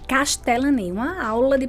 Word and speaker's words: Castellany: Então, a pronúncia é. Só que não para por aí. Não. É Castellani. Castellani.